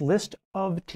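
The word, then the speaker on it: List<T>: to point out this right here list it's pronounced list of tea list of tea that's right right now the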